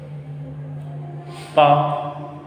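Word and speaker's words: pain: Palm. Because here R-E-N will make single sound, nasal vowel sound.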